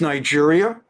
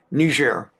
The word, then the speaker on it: Niger: two different it's like um in Africa there's Nigeria and there's another country whose name on paper seems the same ner they pronounce it most appropriately not Niger but ner um n g r and of course not